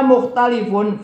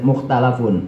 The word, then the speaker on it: mukhtalafun: Wa minna mukhtalifun fi bainal harfiyah. Bacanya bukan mukhtalif tapi mukhtalafun.